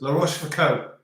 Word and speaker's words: La Rochefoucauld: Is O. So it's La Rochefoucauld, O. as in the south of old.